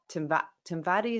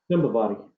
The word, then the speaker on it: Timbavati: I always thought the longer the better, but I spoke to the guide for our safari in Timbati, is that how you say it? Timbavati. Timbavati. And he said, "Oh, don't bring anything too long because they're really close, the animals."